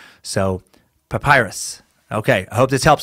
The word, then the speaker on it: papyrus: And she put papyrus, like Russia without the second S and C. So papyrus.